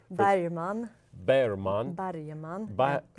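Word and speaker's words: Bergman: cinema withar right now tell people how to pronounce Berman's name Bon bman okay thank you very much and then so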